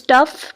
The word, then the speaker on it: tough: Next word is tough. Tough में भी GH की जो स्पेलिंग्स हैं वो फास्ट साउंड प्रोड्यूस कर रहे हैं.